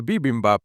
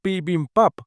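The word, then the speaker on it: bibimbap: Luego se acerca a Oi y la prota le lanza el dato de que Bibin Bap en realidad se pronuncia Pin Pap, no sé a qué se refiere.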